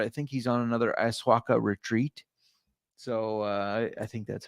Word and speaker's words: ayahuasca: It's not been confirmed, but I think he's on another ayahuasca retreat.